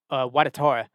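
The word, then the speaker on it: Ouattara: There was a couple times where I thought, Watatora, that's how you say his name now.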